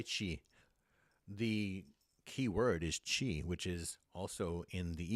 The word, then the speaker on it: qi: The key word is chi, which is also in the East in India is called prana. What that mean? The life force. So chi is spelled Qi. Sometimes you do spell it Chi.